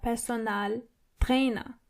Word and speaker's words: Personaltrainer: A personal trainer is der Personaltrainer. So it's similar, but you have to roll your R one more time. Der Personaltrainer. And the A in personal is more obvious than the English version. Personal.